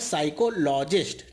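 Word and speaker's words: psychologist: साइकोलॉजिस्ट। ठीक है, इसमें पी साइलेंट रहता है, इसे कहते हैं मनोवैज्ञानिक।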